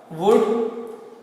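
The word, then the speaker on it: would: क्या होगा, विल का वुड और शॉल का शुड। इसमें एल जो है ना, एल लेटर साइलेंट होता है, तो इसको वुड और शुड नहीं पढ़ेंगे, इसको वुड और शुड।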